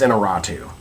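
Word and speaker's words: Iñárritu: I'm never sure of how to say his name, but I believe it's Inarritu.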